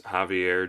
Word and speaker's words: Javier: It's Javier Jara. It looks like Xavier.